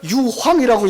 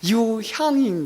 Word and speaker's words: 유향: 있어요 어 이거예요 유향이에요 어떤 분들은 이걸 유황이라고 읽는데 유황이 아니고 유향인 거예요 유향은 이것은 굉장히 향기가